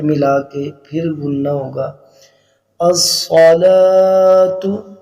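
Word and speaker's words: الصلاة: کے پھر بولنا ہوگا، الصلاۃ، یہ صاد ہے سین نہیں ہے، موٹا پڑھا جائے گا، الصلاۃ خیر من النوم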